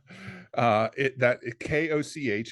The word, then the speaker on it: Koch: KOCH, it's a Dutch word. It's pronounced Koch.